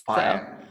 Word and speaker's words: Pion: So I hope I pronounced it right, like Pion. Pion, you were so close. Pion. Yeah. In Serbia, we basically pronounce everything as it is written.